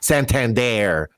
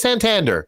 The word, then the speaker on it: Santander: ridiculous and then they have to sign Santander no it's Santander all right chyro for